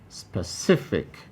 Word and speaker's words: specific: see it highlighted 18 specific specific three syllables as well spare c fake option b c is emphasized and therefore it is highlighted 19 linguistic linguistic